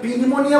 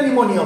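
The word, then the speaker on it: pneumonia: আমরা কি পি নিমোনিয়া বলি না নিমোনিয়া বলি? নিমোনিয়া বলি, পিটা সাইলেন্ট থাকে, তাই তো?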